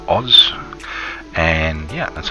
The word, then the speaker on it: Aus: it the very original prefix aus pronounced oz and yeah that's how